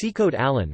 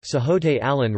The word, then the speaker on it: Sikhote-Alin: The Sikhote-Alin Russian, Sikhote-Alin Russian pronunciation, SX.